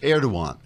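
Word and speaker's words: Erdoğan: riots which angered president erdogan which is pronounced erdogan because the g is silent as in hottest the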